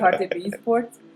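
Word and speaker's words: Hartbeespoort: We are at what they call Hottie Sport. How you say it again, Tasha? I'm going to do my very best. It's Hottie B Sport.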